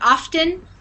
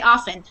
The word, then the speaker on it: often: dialect it's just that some people pronounce it often like I often go to the supermarket on Saturdays you could say um and some people just say often I often so I